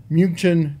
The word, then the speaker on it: München: For the beer drinkers out there, we got the traditional München. München, is that how you pronounce it? We used to call it Munich.